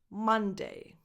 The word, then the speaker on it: Monday: Monday. Monday. Monday. It's the same vowel that you have in the words come, mother, son, Monday.